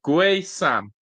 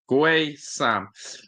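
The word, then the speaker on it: Guessand: Guay Sam. Guay Sam. There's Captain Mike saying the legend. Legend. Legend. Legend. Cuz that's what captain is. Um, but yeah, don't pronounce the U or the D.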